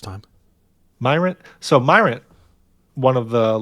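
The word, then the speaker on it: Myrient: So what has happened here is, how do you say this? Myrant? You got it first time. Myrant?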